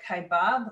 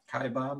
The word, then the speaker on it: Kaibab: the grand canyon is i think i'm pronouncing this right kaibab is that how you would say it kai bob yeah it's k-a-i-b-a-b national